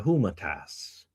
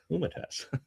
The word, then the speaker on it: Humanitas: Paragraph 25 of Magnifica Humana Tas. Humanitas, sorry. Humanitas. I'm having some pronunciation issues today.